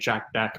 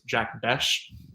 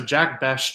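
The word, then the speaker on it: Jack Bech: Higgins and Jack uh I was always saying pronouncing it Jack Beck but it's Jack bash yeah b b okay so Jack bash I think is like seems to be the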